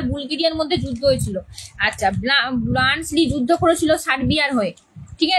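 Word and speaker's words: Bluntschli: এবারে আসি প্রথম নেক্সট ইম্পর্টেন্ট ক্যারেক্টার বলতে পারো, এটা এটা হচ্ছে ব্লান্সলি।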